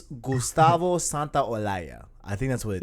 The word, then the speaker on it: Santaolalla: San, I don't know how to pronounce his name. Santa Olaya. Gustavo Santiago. I I don't know. believe it's Gustavo Santaolalla.